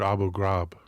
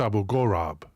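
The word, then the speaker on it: Abu Ghurab: to the big guys Taco correcting my pronunciation I've always heard abug grab that's Abu gorab perhaps it's a different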